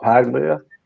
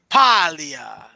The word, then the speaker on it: Paglia: What, Paglia? No, Paglia. Silent G. It's Island G, bro. Learn how to speak Italian.